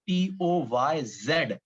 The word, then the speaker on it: poise: लेकिन जब आप इसको रीड करने जाओगे, प्रोनाउंस करने जाओगे, तो उस टाइम पर आप इसको पॉइज नहीं बोल सकते हो। तब आपको इसे बोलना पड़ेगा POYZ, ऐसा प्रोनाउंस करना पड़ेगा। सो प्रोनाउंसिएशन विल बी POYZ, लेकिन लिखोगे POISE।